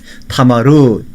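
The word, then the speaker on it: תמר: 타마르, 이렇게 우리가 히브리어로 발음을 합니다.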